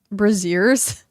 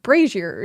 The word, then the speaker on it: brazier: Um, and it's the uh Tony calls them bazeers. I'm like, every single time I hear it, I'm like, that's a bra. It it. How do you pronounce that? It's braier. Brazier.